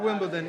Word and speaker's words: Wimbledon: The first word of Wimbledon is win.